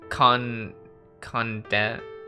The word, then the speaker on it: condescension: Suspicion, condescension. I got it. Condescension. You don't pronounce the C. Condenscation. Usually, if there's an SC, you don't pronounce them together.